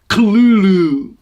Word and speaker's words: Cthulhu: pronunciation, and I realize it is technically pronounced Cthulhu, but that's like unpronounceable by human throats. So I'm just going to stick with Cthulhu so everybody knows what I'm talking about.